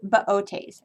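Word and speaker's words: Boötes: has an umla or two separate sounds so it has an umlaut on it usually so it's baotes i will turn that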